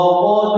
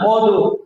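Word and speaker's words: قد: Contoh ini, wa qad khaba. Nah, itu keliru ya. Wa qad khaba. Nah, itu keliru. Yang benar wa qad khaba. Silakan. Wa qad khaba. Qad. Jangan qadu. Qad.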